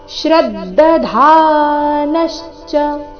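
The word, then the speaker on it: ಶ್ರದ್ಧಧಾನಶ್ಚ: ಆಘಾತ ಬರಬೇಕು ಅಜ್ಞಶ್ಚ ಶ್ರದ್ಧದ ಶ್ರದ್ಧ ಧಾನಶ್ಚ ಧ ಇಲ್ಲಿ ಮಹಾಪ್ರಾಣ ದೀರ್ಘ ನಂತರ ನ ಮೇಲೆ ಆಘಾತ ಶ್ರದ್ಧ ಧಾನಶ್ಚ ಅಜ್ಞಶ್ಚ ಶ್ರದ್ಧ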